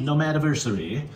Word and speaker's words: Nomad-versary: Nomad-versary.